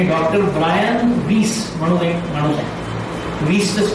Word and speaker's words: Weiss: आता इथे काय आहे, इथे एक माणूस आहे तुम्हाला माहित नाही याची पुस्तकं तुम्ही वाचली आहेत की डॉक्टर ब्रायन वीस म्हणून एक माणूस आहे. वीस चं स्पेलिंग आहे WEISS आणि ब्रायन BRIAN.